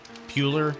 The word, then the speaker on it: Bueller: Bueller, like Ferris Bueller.